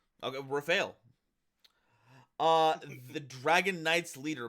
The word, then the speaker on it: Raphael: eight light dragon rumal monster pronounced Rafel because it's my custom card okay Rafel uh the dragon Knight's